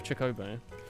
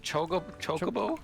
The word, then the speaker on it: Chocobo: Is it just called a Chicobo? That was his avatar. He's like a lovely man. He's actually. Did you call it Chocobo? Well, I was wondering if I mispronounced it. Chocobo, yes, and a Chocobo.